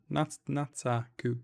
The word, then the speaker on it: Nataku: Nataku, yeah.